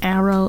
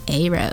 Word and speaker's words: aro: and they were like, are you guys calling it Arrow? It's Aro. And I was like, oh my bad, I've been saying it wrong this whole time. Turns out you can say it either way.